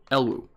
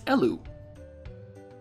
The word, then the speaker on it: Elw: So I had pronounced it Elwu. It's not Elwu. There actually is an official pronunciation. It's Elu. Basically, the W is silent from what I was